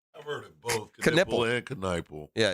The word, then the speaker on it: Knipple: often associated with basketball player Con Knipple, is pronounced Knipple.